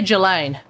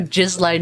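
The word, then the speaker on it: Ghislaine: do you pronounce dulane i say jillaine because i feel like i mean on the one hand a lot of people are calling her jizzlane maxwell i feel like that's not the correct way to pronounce it because that just seems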